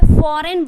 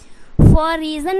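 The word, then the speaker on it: foreign: campaign बोलना है उसी तरीके से क्या है फॉरेन बोलना है क्या है फॉरेन फॉर रीजन नहीं बोलना है ओके उसके बाद यहां पे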